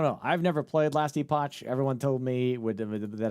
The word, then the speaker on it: Epoch: The cha is EPOG. Wait, what? The cha is pronounced K. Epoch last. Then why not put a K.